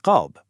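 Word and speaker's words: قلب: Seriously, look at the word qalb, which means heart. You pronounce it deep from the back of the throat. But if you shift that sound just a tiny bit forward in your mouth, you get kelb, which means dog.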